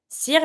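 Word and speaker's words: cire: For example, sir means wax. You see that now? because it's followed by a I, I'm going to say,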